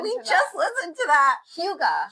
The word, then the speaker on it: hygge: Hyoo-guh. Hyoo-guh. How did we say it wrong? We just Hygge? We just listened to that. Hyoo-guh. Hyoo-guh. Okay. Like Hugh Hefner.